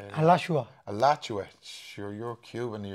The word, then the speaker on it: Alachua: Alachua. Alachua. Sure, you're Cuban. You have better pronunciation than me.